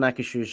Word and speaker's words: Akershus: But I've never done Akershus.